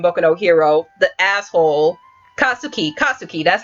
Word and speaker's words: Katsuki: He is that one guy in Boku no Hero, the asshole, Katsuki, that's how you say his name.